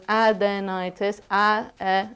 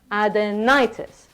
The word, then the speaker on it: adenitis: So it's adenitis, adenitis. So the stress is on the ni, adenitis.